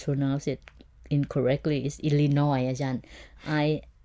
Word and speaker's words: Illinois: this word right so the correct one is Illinois Illinois Illinois yes that's a state